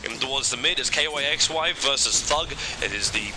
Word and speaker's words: kYxY: Yeah, if people are wondering why we're pronouncing his name slightly weird, that's actually how he told us to pronounce it.